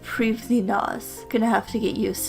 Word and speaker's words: Prifddinas: are really interesting also according to the wiki it's pronounced previnas gonna have to get